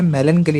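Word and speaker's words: melancholy: अब देखिए ये जो वर्ड आया है मेलनकली, इसे प्रोनाउंस करते हैं ना मेलनकली, और इसका मतलब होता है उदासी या शोक।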